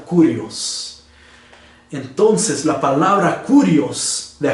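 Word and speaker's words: κύριος: Pues la palabra Señor en el griego se pronuncia Kurios.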